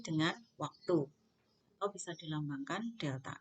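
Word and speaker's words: Δ: Rumusnya V sama dengan, ini bacanya segitiga ini delta.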